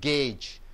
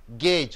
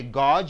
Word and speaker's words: gauge: it as Gage God you say it as gauge it is a verb it is a verb gauge only one sound is there you don't say God you say gauge JD the pronunciation but the